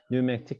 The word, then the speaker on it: pneumatic: P가 묵음이죠. pneumatic이라고 있습니다. pneumatic chemistry, pneumatic이 아니라 pneumatic chemistry입니다.